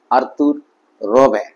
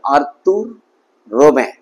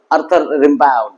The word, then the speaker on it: Arthur Rimbaud: ইন the valley by আর্তুর রবে উচ্চারণটা খেয়াল করবে কারণ তিনি ফরাসি কবি ছিলেন ফরাসি ভাষায় উচ্চারণটা এভাবে হবে আর্তুর রবে রবে রবে ঠিক আছে ব্রিটিশ ইংলিশ হলে আর্থার রেম্বা উচ্চারণ হতো কিন্তু ফরাসি